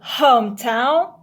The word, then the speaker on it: hometown: pronunciation of these words the home is a loud word for example hometown and homesick so you pronounce home in these words louder than town and sick the main word in